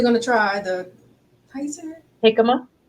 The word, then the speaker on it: jicama: to try the Kaiser jicama jicama okay I was like okay that J is not a j it's j it's pronounced like an H in Spanish okay yeah I was